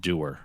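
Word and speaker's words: Dewar: Derer. I hardly know her. No, it's spelled. No, it's strange. How would you think his last name is spelled knowing it's pronounced Derer?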